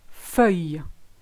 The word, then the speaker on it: feuille: So the first one I've chosen is feuille. Feuille. You've got E, which is the EU, the ILL make the sound Y, and then the E is silent.